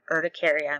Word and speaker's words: urticaria: And it is again, I looked at the pronunciation. Urticaria.